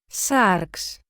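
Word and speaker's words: σάρξ: This is how these two words are pronounced. SÁRX.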